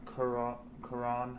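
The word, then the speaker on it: Garrón: This is by Jason Aaron with a little art by Ed McGuinness and most of it by Karan. That's how you pronounce his last name.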